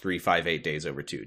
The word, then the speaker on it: 358/2 Days: Do you like that this video game is spelled 358 over 2 days, but it's pronounced 358 days over 2?